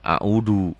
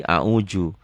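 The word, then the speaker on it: أعوذ: Ini seringkali orang Sunda a'udhu, kekerasan. Kalau orang Betawi seringkali a'uju. Orang manapun kalau bacanya sudah benar a'udhu zal.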